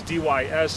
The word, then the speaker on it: Dys: You got to spell it right in front of the boss. My name is D-Y-S on the end of it, D-Y-S Dys.